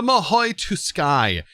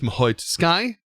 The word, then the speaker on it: Mahou Tsukai: So I'm going with Mahou Tsukai. The T is not silent. It does have a tis sound to it. And that's how I'm going to pronounce it.